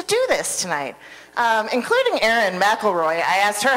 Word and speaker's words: McElroy: Including Erin McElroy. I asked her how to pronounce her name and she said it's like Macklemore, but slightly different.